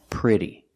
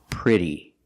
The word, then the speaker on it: pretty: it's not pronounced pretty it's pronounced with the short I the sound like this is prayer pray pretty and now let's talk